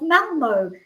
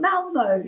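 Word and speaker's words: Malmö: was probably commenting on my pronunciation of Malmo, because it isn't Malmo. She said it is Malmo.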